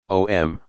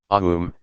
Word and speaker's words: Om: The first letter, A, is the root sound, the key, pronounced without touching any part of the tongue or palate. M represents the last sound in the series, being produced by the closed lip, and the U rolls from the very root to the